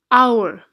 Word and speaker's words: hour: let's take another example hour now in this case the H is silent and again we use